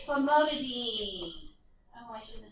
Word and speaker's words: famotidine: So it ends in "een." So birdie, D, and "een," dean. It sounds like and rhymes with dean, but it's spelled different. It's spelled like dine, but it's not pronounced like dine. So when you hear people say, "Oh, I need famotidine," you're like, you don't know what you're talking about. You need famotidine. Because they're trying to pronounce it how it looks like it's spelled. All right, how about this one?